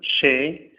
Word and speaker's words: chez: latin la lettre Z elle est toujours prononcé Z sauf lors- qu'elle se trouve à la fin du monde tel que chez oou le Z n'est pas prononcé de même avec tous